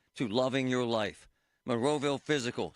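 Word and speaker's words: Fyzical: You want a new physical therapy experience? You want a treatment plan centered on you? Monroeville Physical, spelled F Y Z I C A L, is spelled different, you know, cuz they are different.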